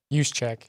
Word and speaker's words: Juszczyk: Juszczyk.